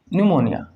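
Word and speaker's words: pneumonia: निमोनिया, न्यूमोनिया जब लिखा जाता है तो बेटा पी से लिखा जाता है, लेकिन प्रोनाउंस एन से किया जाता है।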